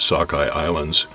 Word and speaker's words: Sukhoi Islands: propeller Arc now is Sockeye Islands they're spelled Sukhoi Islands on the map but they're pronounced Sockeye Island and then just in